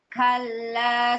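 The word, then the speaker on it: كلا: Kalla saufa. Ulangi, Bu. Kalla saufa. Nah, Ibu perhatikan saat membaca ka itu jangan ka jangan kal tidak knya tuh biasa ka ki ku ku kalla kalla nah gitu saufa tsumma kalla saufa tauun Healunal jahim.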